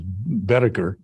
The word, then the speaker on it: Boetticher: The correct pronunciation is Boetticher.